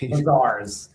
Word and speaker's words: Mazars: I I hope I pronounced that right. Mazars Mazars.